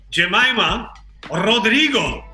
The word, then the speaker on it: Jemimah Rodrigues: young prodigy is welcome Jemima Roderigo thank you for pronouncing my name correctly I mean yeah that's